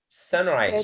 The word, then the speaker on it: sunrise: When a noun is comprised of two words, the first syllable is stressed. Like. Yes. Blackbird. Yeah. Blackboard. Yeah. Blackboard. Board. Blackboard. Okay. Huh? Sunrise.